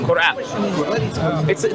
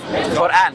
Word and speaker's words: Quran: Quran. There is a Arabic letter that will be hard to say, which is qaf. Quran. It will be hard to say because you don't have it in English.